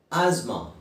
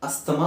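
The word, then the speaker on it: asthma: ಆಸ್ಮಾ, ಆಸ್ಮಾ, ಆಸ್ಮಾ, ಅಸ್ತಮಾ ಅಂತ ಹೇಳ್ತಾರೆ. Actually ಅದರ ಸರಿಯಾದ ಉಚ್ಚಾರಣೆ ಇಂಗ್ಲೀಷ್ನಲ್ಲಿ, ಕನ್ನಡದಲ್ಲಿ ನಾವು ಹೇಗೆ ಬೇಕಾದ್ರೆ ಹೇಳ್ಬೋದು, ಇಂಗ್ಲೀಷ್ನಲ್ಲಿ ಹೇಳಬೇಕಾದ್ರೆ ಆಸ್ಮಾ, AZMA ಅಂತ ಉಚ್ಚಾರಣೆ ಮಾಡ್ಬೋದು. ಆಸ್ಮಾ, TH ಬದಲು Z ಹಾಕೊಂಡ್ರೆ ಆಯಿತು, ಆಸ್ಮಾ.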